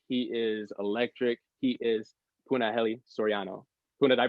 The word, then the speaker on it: Punahele Soriano: He is Punahele Soriano. Puna, did I pronounce that correctly?